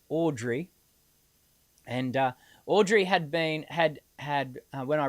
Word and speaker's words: Audrey: And then, of course, we had Audrey, who I kept pronouncing her name incorrectly 2 weeks ago as Edrie. It's Audrey.